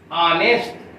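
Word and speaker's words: honest: इसका प्रोनाउंसिएशन देखो, इसका उच्चारण देखो कैसे, किससे शुरू हो रहा है, ऑनेस्ट।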